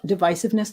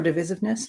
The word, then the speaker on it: divisiveness: And we're going to be talking about divisiveness today, or divisiveness, depending on how you prefer to pronounce it.